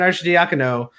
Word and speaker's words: Arcidiacono: diakon oh there it is got it Ryan Arcidiacono my starting point guard I refused to learn